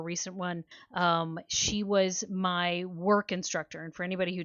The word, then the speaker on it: WERQ: She was my work instructor. And for anybody who doesn't know, work is spelled WERQ, and it is a dance fitness class.